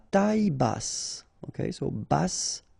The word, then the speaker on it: basse: À taille basse. Okay, so basse. Final E not pronounced, but then you pronounce the double S, so S. Basse.